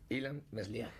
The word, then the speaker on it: Ilan Meslier: How do we pronounce his name? The name is Ilan Meslier.